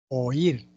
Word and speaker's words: oír: Oír, oír, la mayor fuerza de voz en la cerrada, I.